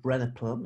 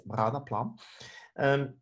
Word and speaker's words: Branaplam: It's Branaplam, and you have to pronounce it with the accent from Basel. So it's not Branaplam, it's Branaplam.